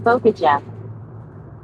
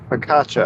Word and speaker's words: focaccia: Anna says Fokaja. Paula says I want Oh, Mom you're to be my saying, yeah, boss. yeah. She's not saying it right, but you're right. Focaccia? Focaccia? Is that how you say it? Focaccia, I think.